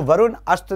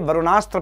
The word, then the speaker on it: वरुणास्त्र: इसको वरुण अस्त्र नहीं करके वरुणास्त्र प्रोनाउंस करेंगे हम लोग।